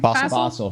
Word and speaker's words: Fassel: Fassel.